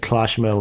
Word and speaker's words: Clochemerle: I looked up the pronunciation of Cloche Merle in French, and it's more of a like Cloche Merle. Yeah, There we really go. got to get in that glottal like L at the end.